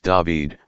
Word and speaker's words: David: Gospel of Luke in this Psalm King David pronounced David pleads for the Judgment of his father God